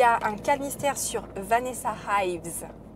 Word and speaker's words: Ives: Ensuite, les autres calmystères qui commencent le 1er octobre, il y a un calmystère sur Vanessa Ives, pas Ives, Ives, parce que ça s'écrit I-V-E-S, qui est le personnage principal de la série Penny Dreadful, que j'adore.